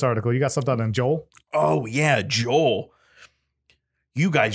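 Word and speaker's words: JEOL: this company at rapid joel yeah like like seoul south korea um but it's a japanese company and the company is spelled j-e-o-l um the the article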